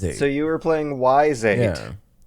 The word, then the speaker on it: Ys: I've been playing Ys VIII on the Switch. So that's how you say it. Ease.